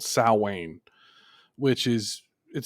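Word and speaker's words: Samhain: in origin it's a it's a Time called sa which is it sounds creepy most people they pronounce it Sam ha because that's the way it's spelled but it's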